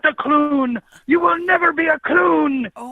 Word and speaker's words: Clune: to correct you on my last name it's Clun no I'm sorry I'm sorry I'm not that